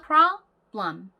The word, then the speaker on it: problem: 알고 계시는 경우가 많은데 앞에 p 발음은요. p 이렇게 되게 선명한 발음이 아니고요. 그냥 p 요 정도의 존재감이 별로 없는 발음이 납니다. 그래서 이게 하나의 음절이고요. 그리고 뒤에 있는 b도요. b 이렇게 명확한 발음이 나지 않고 그냥 b 정도로 발음이 나거든요. 그래서 problem 이렇게 이음절로 나뉘어요.